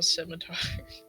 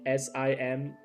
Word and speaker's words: scimitar: Scimitar. At least you said it right. I thought you were going to say SIMITARD.